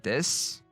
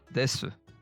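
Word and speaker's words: です: Ichiji desu. As we can see, we don't hear su. It's just s. Des, not desu. Most of the times, and that u at the end of su drops like 99%.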